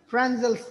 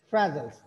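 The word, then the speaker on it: Fresnel: Spelling भी लिख लें साहब का, फ्रांजल्स। फ्रांजल्स, एंड साइलेंट होता है।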